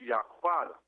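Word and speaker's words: יהודה: our tribal name is pronounced Yaquada.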